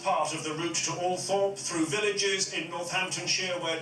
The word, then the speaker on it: Althorp: Even though she had preferred bright lights and big cities, the rural setting of Althorpe, sometimes pronounced Althorpe by the toffs, was thought most appropriate for Diana's last resting place.